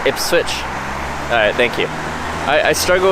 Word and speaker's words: Ipswich: Pronounced Ipswich.